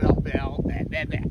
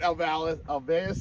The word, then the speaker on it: Alveus: We are at Alval. Let's try that again. Let's go round 2 on that. We are at Alveus Sanctuary.